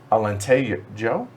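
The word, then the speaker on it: Alentejo: away good call oh in portuguese you pronounce the js alente joe alente joe joe oh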